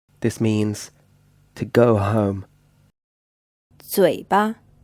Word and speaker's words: 嘴巴: 嘴巴 This word is pronounced with a third tone, and the second syllable is unstressed.